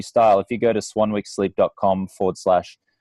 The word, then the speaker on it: Swanwick: to Swanwick sleep calm my last name is pronounced Swanwick well sorry it's spelled Swanwick SWA n WI ck so if you go